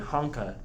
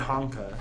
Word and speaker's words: Hanka: He said Honka as part of a sentence, and I was like, okay, that's how you pronounce it, because the Japanese dude said it that way.